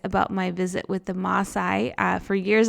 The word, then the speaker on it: Maasai: my visit with the Maasai. For years, I called it Maasai. On our trip, we learned that it's actually Maasai with 2 A's.